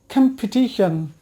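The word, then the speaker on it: competition: তাহলে এটা সঠিক উচ্চারণ হচ্ছে ক্যাম্পিটিশন, ক্যাম্পিটিশন। We want to join to this ক্যাম্পিটিশন।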